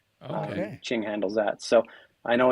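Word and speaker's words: Tjing: this year is is Ching. Uh, so, okay. Probably most Canadians aren't familiar with Ching. Um, but it is it's spelled TJ I N G, and they are an app.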